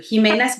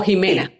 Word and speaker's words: Ximena: Josh Kuner y es Jimena o Jimena. Bueno, yo toda la vida lo he pronunciado Jimena a pesar de que es con X.